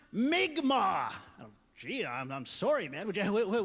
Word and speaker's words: Mi'kmaq: She goes, "It's not Micmac. It's what white people call us. It's wrong. It's pronounced Mi'kmaq."